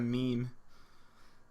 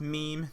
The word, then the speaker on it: meme: asked what is a meme so it is it is pronounced meme not me uh and a meme